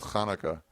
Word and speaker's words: Hanukkah: chanukkah no it's not pronounced that way it's pronounced Hanukkah I have a I have a ton of